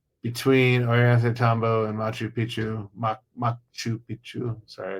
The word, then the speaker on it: Machu Picchu: Machu Picchu. Sorry, I got to pronounce it correctly because if you say it wrong, it means something completely different.